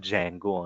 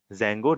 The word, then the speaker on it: Django: Otherwise some people are called Django only because D is silent. Okay, Django, Django, both are pronunciation.